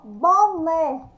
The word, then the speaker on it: boné: O mecânico sujou o boné. Boné, ó, o né. Quando eu falo né, eu abro a boca, né? Sai o som aberto.